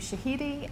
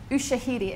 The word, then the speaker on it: Ushahidi: I think anyone interested in this area as well should probably look at the work of Ushahidi and their tool Swift River, which is trying